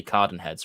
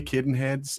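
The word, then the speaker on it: Cadenhead's: or c i so I want to say Caden heads but I'm pretty sure you'd say Carden heads right he no I say both yeah the Campell Town accent and pronunciation would make an Caden heads Cen heads yeah but generally Kaden heads I mean nobody's gonna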